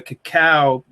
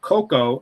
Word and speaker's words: cacao: Pure chocolate comes from the cacao bean. Well, technically it's nut, cacao nut, and this is spelled C-A-C-A-O, cacao, not cocoa, and this is the purest form of raw chocolate.